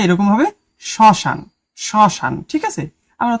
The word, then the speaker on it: শ্মশান: পদের প্রথমে ম ফলা থাকলে সে বর্ণের উচ্চারণ কিছুটা ঝোঁক পড়ে এবং সামান্য নাসিক্য স্বর হয় মানে কিছুটা নাকে বাজে। যেমন শ্মশান আসলে এটার উচ্চারণটা এরকম হবে শ্মশান।